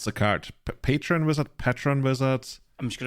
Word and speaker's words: Patron Wizard: we just figed out it's actually called Patron wizard because your chat couldn't agree how to pronounce it Oh I thought it's patreon wizard but I think this there's no e in there yeah this guy yeah